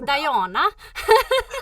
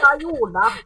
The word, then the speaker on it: Dajana: It was like Dajana. Dajona.